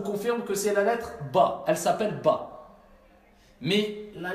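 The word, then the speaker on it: ب: Ça, je vous confirme que c'est la lettre Ba. Elle s'appelle Ba. Mais la lettre Ba, elle s'appelle Ba, mais elle ne se prononce pas Ba. C'est B, B, B, B. C'est le son simplement B.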